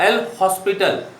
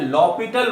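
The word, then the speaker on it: L'Hôpital: Rule और एल हॉस्पिटल, बट इट is naught एल हॉस्पिटल, ये H silent होता है और इसको पढ़ा जाता है लॉपिटल रूल, एस भी साइलेंट, लॉपिटल रूल।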